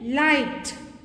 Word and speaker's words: light: Light. Silent. Might. Silent. Night. Silent. Tight. Silent. Fright. Silent. Tonight. Silent. Wait. Silent. Height. Silent. Straight. Silence. In all these words you have GH silent.